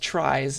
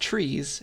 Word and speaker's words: tries: reason that it's pronounced tries is because it's supposed to be uh it was originally supposed to be pronounced trees and just it's spelled differently but then people started